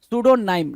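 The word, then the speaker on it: pseudonym: सूडो मतलब क्या false P एस ई डी यू वहां पे पी क्या होता है साइलेंट होता है सूडो बोलते हैं सूडो नाइम नाइम से क्या हो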